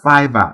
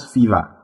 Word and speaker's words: Fiverr: to perform those services it is pronounced fiverr not fever and it got its